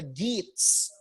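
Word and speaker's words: Geats: our hero is actually one of the gates uh i the i think the word is also in the copy it's spelled g-e-a-t-s our hero named beowulf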